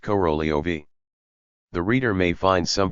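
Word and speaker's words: Korolev: Hence, the transliteration corf though it is pronounced corolio.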